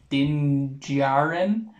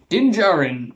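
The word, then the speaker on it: Din Djarin: can call him mando more than i do din jiren i'm pretty sure you just butchered his name dinjarin did i've heard worse but personally i love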